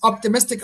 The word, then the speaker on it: optimistic: Which so that's the third syllable. Optimistic on the m third syllable.